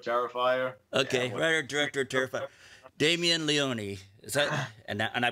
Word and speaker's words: Damien Leone: writer director of terrifier okay writer director terrified damien leone is that and i pronounced that right that is correct okay good